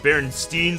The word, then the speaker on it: Berenstain: Berenstain Bears one because it was pronounced Berenstein so much yo people became convinced you know it was spelled with an e instead of an a that's like the most